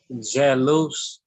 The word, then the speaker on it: jalus: If the first letter is soft, then that makes the A soft, and J is a soft letter. So how would you pronounce that? So, jalous.